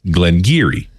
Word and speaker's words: Glen Garioch: The correct pronunciation is Glen Garioch. Geary?